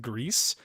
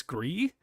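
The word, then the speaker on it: Gris: so I pronounce it Greece right that's how you pronounce it in Spanish now re or without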